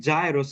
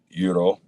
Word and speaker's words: gyro: Most foreigners say it gyros and just. Oh no, I know just- it's Euro. I know Euro.